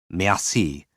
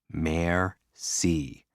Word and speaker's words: merci: Merci. What does it mean? Thank you. Break it down. Mare-see. What's a mare? A female horse.